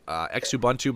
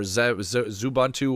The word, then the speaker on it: Xubuntu: 14.10 is out there available in the wild, but I mean, myself, I still have a Xubuntu box or Zubuntu, whatever you want to pronounce it.